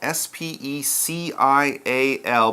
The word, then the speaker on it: special: SPE see I al SPE CI al but we pronounce it special that Si and I it kind of comes out with an SH kind of sound special let's check it